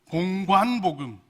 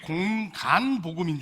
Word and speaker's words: 공관복음: 제가 어렸을 때는 들었을 때 이게 공간복음인 줄 알았어요. 근데 제가 신학교 가보니까 공관복음이더라고요. 제가 경상도 출신인데 저를 가르쳐 주셨던 목사님이 관 발음이 잘 안 된 것 같습니다. 공간복음. 전 맨날 이렇게 기억하고 있었거든요.